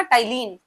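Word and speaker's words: ptyalin: दूसरा नेम याद रखना टलीन पी साइलेंट है पी टी वाई ए एल आई एन ये सलाइवरी एमाइलेज़ का दूसरा नेम है। करता क्या है? स्टार्च को माल्टोस में कन्वर्ट कर देता है। टाइलीन कन्वर्ट्स स्टार्च इंटू माल्टोज़।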